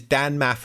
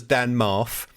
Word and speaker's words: Dan Maff: He pronounces Dan Maff as Dan Marf, and then comes out